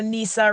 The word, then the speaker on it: Nissa: So I am and and just for pronunciation, so Nissa rhymes with Lisa and then rhymes.